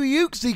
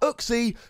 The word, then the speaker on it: Uxie: at a brand new uke C card that is coming out in Sun and Moon five plus a Pokemon the Iowas pronounced hook c but it turns out it's actually pronounced uke c so when I inevitably